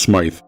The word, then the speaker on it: Smith: One of the few landmarks along Smith Road, which today is usually pronounced Smythe, was the farmhouse of Thomas and Ida Saunderson.